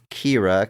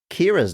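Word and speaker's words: Qi'ra: I think it's pronounced it says Kira's name is pronounced quotation marks Kira Q I apostrophe r a doesn't give me phonetics it just says in parenthesis KY AI is the worst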